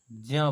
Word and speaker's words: ज्ञा: ज्ञा को ज्या बोला जाता है, ज्या।